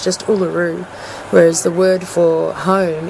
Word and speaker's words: Uluru: um that letter so in the word uluru for instance the r is underlined which tells me that the r is just a normal english r so it's just uluru whereas the word for